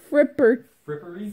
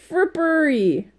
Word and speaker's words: frippery: Fripperty. Fripper. There's no T there. Frippery. Like slippery, but with a F-R.